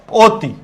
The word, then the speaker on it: অতি: লক্ষ কর আমরা যদি বলি অতি। লক্ষ কর পরবর্তী বর্ণে কি আছে? রস্বীকার আছে। অ এর পরে রস্বীকার। তাহলে এটার উচ্চারণ হবে অতি।